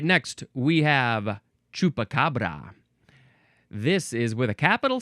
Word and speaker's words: chupacabra: All right, next we have chupacabra. This is with a capital C because it's the name of a thing. It's its name. Chupacabra. Chupacabra. Abracadabra, chupacabra. No.